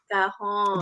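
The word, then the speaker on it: cajón: drums that people sit on, and they Oh, cajon. No, cajon. That's what it's called. I always call it a Cajun.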